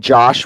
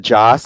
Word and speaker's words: Joss: yeah and also also if everyone keeps saying Josh Whedon instead of Joss I'm gonna smack y'all